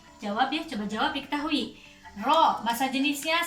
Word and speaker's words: Rho: Ditulis dalam sebuah persamaan P sama dengan Rho, bacanya ini Rho, massa jenis, kali G gravitasi kali H ketinggian.